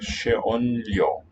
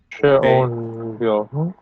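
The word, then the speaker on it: xeonllo: Maybe a sh for the X. I'd like to, yeah. That's what Basque does. Yeah, it's not quite a something like that. Sheonlyo, an N-Elia cluster.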